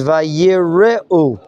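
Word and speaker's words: וַיִּרְאוּ: shva under the resh, it's the beginning of a new syllable. It's like a shva at the beginning of a word, which will be a shva na, a more motioning, dynamic shva. And therefore, it's probably pronounced vayireu, from the word yirah, as opposed to lirot.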